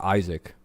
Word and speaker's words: Ishaq: My name's actually fucking Ishak. Pronounced Isaac.